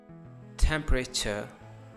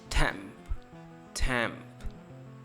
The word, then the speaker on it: temperature: Temperature, temperature. Here we have stress over the first part of the temp, temp.